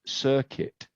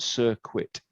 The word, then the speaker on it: circuit: We can talk about electricity shorting or notice the pronunciation short circuit not cirquit short circuit.